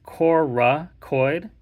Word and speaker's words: coracoid: it this is called coracoid process so I kind of pronounce that a little bit weird because a lot of people often like Miss hear or misread it it's Korra coid c-o-r-a-c-o-i-d so just be careful